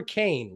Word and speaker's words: Kean: the show Miss Leslie K howdy I hope I pronounced it right you prefer Kane right it's not that I prefer that's the correct pronunciation perfect I'm picky with